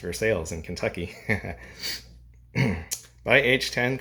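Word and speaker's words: Versailles: he was born on a tobacco farm in versales Kentucky near Lexington it's spelled the same as the Versa in France but it's pronounced versales in Kentucky by age 10 Conley had begun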